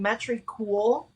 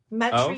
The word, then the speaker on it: Metricool: How do you spell that? What's the app? M E M E T R I cool. Metricool.